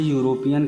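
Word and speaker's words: European: करें यूरोपियन शब्द की यूरोपियन शब्द की शुरुआत लेटर ई से हो रही है जो कि वोवेल लेटर है। लेकिन इसका उच्चारण यू से हो रहा है। यू क्या है? कंसोनेंट साउंड है यानी व्यंजन ध्वनि है।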